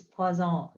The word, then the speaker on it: Poisson: Oh, look at this nice pronunciation. It's Poisson.